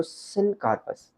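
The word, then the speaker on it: syncarpous: और अगर ये हमारे पास फ्यूज्ड है तो सिनकार्पस। दोबारा प्रोनाउंस करना मेरे साथ, दो टर्म्स है, एपोकार्पस, सिनकार्पस।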